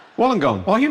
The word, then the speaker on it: Wollongong: In Australia, at their home near Wollongong. And she Wollongong? Is that how it's pronounced?